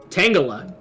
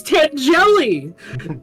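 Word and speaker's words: Tangela: pm7 and was like how do you say this Pokemon's name and he was like tangala and he was like I thought it was T jelly and pm7 was just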